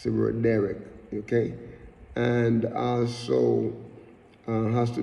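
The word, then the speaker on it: דרך: Look at the word "way" here, because "way" is the Hebrew word "derek." Derek, like I said, D-E-H-R-E-K. That's the English pronunciation of that, but the Hebrew is Dalet, Resh, and Kaf.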